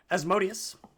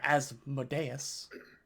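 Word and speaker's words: Asmodeus: uh as modius or as modeus depending on your preferred pronunciation yeah the correct one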